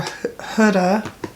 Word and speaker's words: Huda: All right, and then I have 2, 3 Huda, or Huda, that's how you say your name.